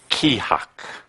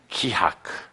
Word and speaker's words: Keahak: It is pronounced Keahak. Keahak. That sound fun? You can say it. Keahak. Yeah. Kind of like saying shit.